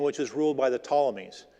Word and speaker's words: Ptolemies: was ruled by the Ptolemies. It's spelled with a P. The P is silent.